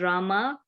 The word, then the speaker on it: Rama: hare krishna pronounced krishna and rama ranks with drama are sanskrit words hare